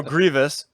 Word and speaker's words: Grievous: You are always saying his name wrong. General Grievous.